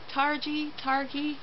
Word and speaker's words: Targhee: It is 80% superwash targhee. How do you say that word? It's Targhee. I don't know if it's a hard or a soft G, but it's 80% that, and it is 20% silk.